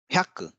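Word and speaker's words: ひゃく: ह्यक, ह्यक, ह्यक, देखिए यहाँ पे ह्याकु लिखा हुआ है, लेकिन इसका जो उच्चारण है वो ह्यक है, ह्यक यानी कि 100,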